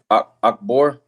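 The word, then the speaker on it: Achbor: 2 Kings 22-14 it says so Hilkaya the priest and I Aikim and how you say his name Akbore Akbore and Shapan and Isaiah went to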